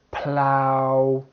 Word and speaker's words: plough: Now we have the ow sound. Ow, like in slough, plow, drought, drought. The GH is silent.